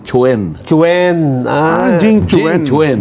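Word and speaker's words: Quan: Oo ang pronunciation Chwen. Chuen. Ah Jing Chen Chen Jing Chen ayun Jing Chen. Your excellency ambassador Jing Chwen mo huwag mong sasabihin kwan. Oo Jing Chwen.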